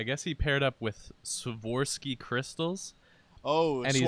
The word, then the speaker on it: Swarovski: I guess he paired up with Swarovski crystals. Oh, And he's- Swarovski. Oh, is that how it's pronounced? Yeah, Swarovski.